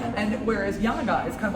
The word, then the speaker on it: Janega: of Slovaks who are called YAN-uh-guh. You know what's interesting is in Polish speakers, or Polish families, Polish immigrant families in the United States have no problem with Janega because they see it. We spell it Janega. YAN-uh-guh or Janega, it's spelled the same way.